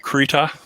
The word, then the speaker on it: Krita: freehand drawing it's called krita it's a european pronunciation of what some people would say krita k-r-i-t-a that is um the